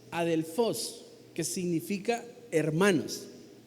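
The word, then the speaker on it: ἀδελφός: el reino, se utiliza una palabra que se pronuncia más o menos adelfos, que significa hermanos.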